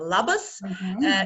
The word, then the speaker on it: labas: Labas in Lithuanian means hello, zdravo. Yeah.